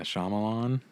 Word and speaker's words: Shyamalan: delivery i always feel like i'm saying his name wrong it's shyamalan right yeah shyamalan yeah i want to say shamalam and ding